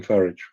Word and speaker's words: Farage: farage I call him farage farage rhymes with a gage that's the English way of saying things um it does